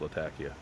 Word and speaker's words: Latakia: my first taste of Latakia Latakia it is pronounced Latakia I go to school with two women from